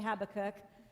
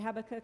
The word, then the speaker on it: Habakkuk: I've heard it three different ways today but I say Habakkuk, Who knows how to say it? It rhymes with prayer book though. That's why I say Habakkuk in the prayer book.